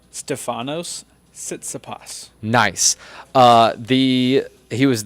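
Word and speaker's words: Tsitsipas: how do you say the guy's name Stefanos sitsapas nice uh the he was the fifth seed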